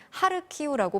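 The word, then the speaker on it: 하르키우: 측 의 권고에 따라서 수도 키에 분은 키 이므로 동부 도시 하리 꼽은 하르 키우라고 바꿔서 부르도록 하겠습니다 자 우크라이나 친구 일주일째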